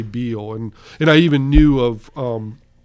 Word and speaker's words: Beall: And they would say Beall and literally go, no, that's how we say it. And I'm like, well, that's not how it's pronounced. Because Ninian Bell would say, as in ringing bell, when he would tell people.